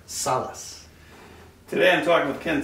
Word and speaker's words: Salaz: right by the way every time you say it wrong okay how do i say it right salas today i'm talking with